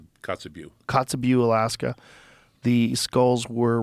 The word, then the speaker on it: Kotzebue: Kotzebue? Kotzebue.